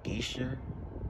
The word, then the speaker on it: Geyser: so today we got Crystal Geisha but that's how you say it um now I had